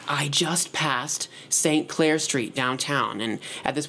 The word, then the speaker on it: St. Clair: St. Clair, it rhymes with Blair.